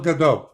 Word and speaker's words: Gadot: Gal Gadot. Oh, they do pronounce the T.